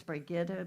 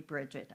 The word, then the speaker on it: Brigitta: My name is Brigitta, but I'll go for anything unless you call me Bridget. I will not listen to that.